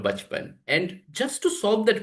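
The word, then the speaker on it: बचपन: word like this, uh, which ideally we pronounce it as bachpan, but if you see the writing style, there are us, right? So bachapana, four letters are written. The model would read it as bachapana instead of bachpan.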